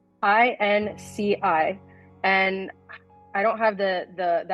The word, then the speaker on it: INCI: Is it literally INCI, I-N-K-Y, INCI names? INCI, and I don't have the acronym in front of me, but it's essentially, I want to say, international nomenclature.